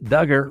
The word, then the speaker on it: Duggar: jury in Arkansas found Duggar rhymes with hugger guilty in December of